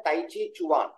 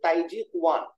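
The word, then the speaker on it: 太極拳: ताई ची का एक्चुअली द कंप्लीट टर्म है ताई ची चुआन। ओके। और चाइनीज प्रोनाउंसिएशन इज ताई जी कुआन। उन लोग ताई ची को ताई जी कहते हैं, वो बट the western term is ताई ची।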